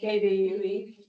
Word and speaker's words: KVUE: KVUE. Okay, TV, oh yeah, I don't know if it's right. KView.